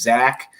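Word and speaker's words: Zech: His name it looks like Zack Mcpherson. It's actually pronounced Zach.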